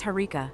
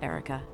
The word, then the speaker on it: Herika: But it's Herika, not Erica.